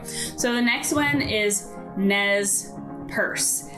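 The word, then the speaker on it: Nez Perce: the next one is nez purse now it's not a handbag which some of you might think but nez purse is um it's french and it means pierced nose and it's the name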